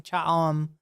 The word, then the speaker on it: Cha'am: I don't know why I made it a hard or like a long O sound, but yeah, it's Cha'am.